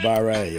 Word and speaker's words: barre: Properly pronounced barre, actually.